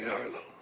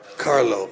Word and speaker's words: Carlo: Harlo. Follow Harlo. Did I say it right? C A R Carlo.